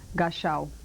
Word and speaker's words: Gashaw: Gashaw.